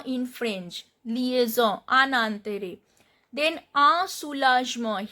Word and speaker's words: un soulagement: Here I am not pronouncing this N. Un soulagement. OU joint vowel sound is U. Soulage. G is sound. G is when G is followed by E, the pronunciation of G is J. Soulagement. Then T, again T is not pronounced and EN sound is Un soulagement.